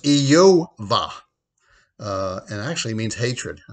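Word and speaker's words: איוב: it as job well if you go back to how the name of job was pronounced in hebrew it was yo-vah and actually means hatred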